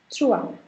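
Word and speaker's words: trois: Because OI is sounded as OA and the last consonant is kept silent. Trua. Four is quatre.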